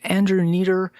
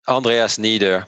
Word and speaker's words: Andreas Nieder: I'm hoping to get, is it Andrew Nieder? Is that the right pronunciation? Andreas Nieder. Yes, absolutely.